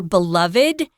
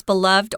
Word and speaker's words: beloved: And it still remains even today one of William Shakespeare's most beloved or beloved. You can pronounce this word in two ways. Beloved or beloved. They're both correct.